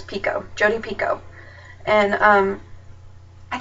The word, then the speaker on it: Picoult: is by Jody pult it's not pult it's Pico jod Pico and um I just I really